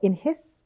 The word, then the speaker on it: INHIS: So your company's called INHIS.